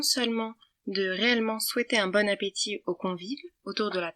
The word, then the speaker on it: bon appétit: Attention, ça se prononce bien « bon appétit » sans T à la fin, car il est muet, et non pas « bon appétit ».